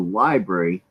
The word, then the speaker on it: LBRY: Yeah, it's adjacent to YouTube, and you basically your YouTube videos goes on to Library, but everybody's monetized.